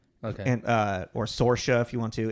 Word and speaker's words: Saoirse: watched the thing of her explaining how to pronounce it it's like sorha okay and uh or sorha if you want to it's as closely to